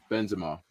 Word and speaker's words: Benzema: Someone said to me earlier, about Benzema, and they were like, first of all, I was in the podcast. I was saying Benzema, in it. How do you man say it? It's Benzema, in it.